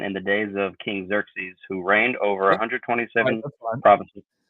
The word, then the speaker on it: Xerxes: RX s and I when I listen to it it says Xerxes so that's just how I pronounce it um Xerxes is the